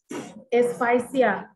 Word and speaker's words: asphyxia: Asphyxia. Do you want me to spell out? Yes, ma'am. Asphyxia. Asphyxia. Asphyxia. Asphyxia. We pronounce it as asphyxia, okay?